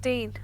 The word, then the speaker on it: Dhean: It's just Dean. Yeah, but he spells it with a H. The D is silent. Ian. Ian. Hello, Ian. No, because it is just Dean, but he spells it like Dhean.